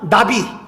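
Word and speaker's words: נביא: 맡은 사람을 누구라 그러냐 나비 우리이 나비이이 발음이 똑같아요이 나비라고 하는데이 나비를 갖다가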